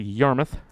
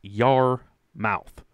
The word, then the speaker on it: Yarmouth: let's go back to yarmouth your mouth i've heard it pronounced both ways to me it's your mouth but then i've heard a canadian youtuber dre that i watch said yarmouth